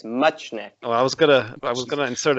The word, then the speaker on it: Muchnik: Muchnik. Everyone wants to insert an N in there. It's Muchnik.